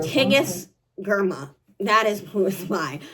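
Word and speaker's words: Tigest Girma: words inside of it and also how to pronounce my name okay you hearing her so my name is TIG girl TIG GMA that is who is by so Immortal dark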